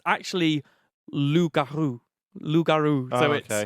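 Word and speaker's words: loup-garou: Okay, I'm going to quickly say the reason it's called Rougarou, it's actually from the French who went over to Louisiana or down to Louisiana from Canada. It's actually Lougarou.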